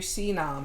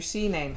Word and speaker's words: CNAM: going to be called registering your cnome or your cname however you want to um pronounce it all right c-n-a-m okay so pretty